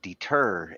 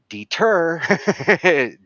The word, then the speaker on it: deter: like what he mentioned about deter and that there there is a certain part of that word that is the emphasis syllable and as you're trying to cram this word into Melody know which words have that because you put it on the wrong note and deter deter now